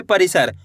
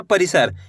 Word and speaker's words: परिसर: इसी तरीके से आपको तेजी के साथ इसका उच्चारण निकालना है, परिसर। खींच के नहीं पढ़ना, परिसर ऐसे नहीं पढ़ना, परिसर। इस तरीके से आपको पढ़ना है, तभी जाके सही से छोटी ई की मात्रा का उच्चारण निकलेगा।